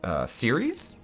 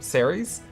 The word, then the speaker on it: Ceres: it hecka T Persephone series Siri Siri Siri no ha ha the grain goddess zer yes how do you say her name Ceres oh my god I'm